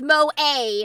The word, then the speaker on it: Moe: Sorry, I'm for the uninitiated, Moe is a very specific brand of Japanese cuteness. This is not Moe, but her name is Moe. And yes, it's Moe, not Mo.